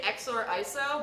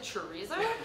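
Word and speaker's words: xorriso: So it's, I think you're supposed to say XOR ISO, but I pronounce it chorizo. And I'm certain that is 100% correct.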